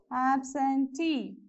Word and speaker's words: absentee: stress mark here okay next one absentee so there is a suffix double e here so whenever there is a suffix like this uh you have to place the stress mark on the last syllable okay so how many